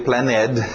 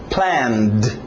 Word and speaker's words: planned: Passado regular, ed. Mais uma vez eu tirei o e para ninguém dizer planned. Ok, só um d. Planned. Planned. Para naquele d.